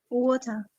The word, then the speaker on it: water: australian water british water so when the t sounds like d monica and melissa once again that time we call this t as a flap t this is a part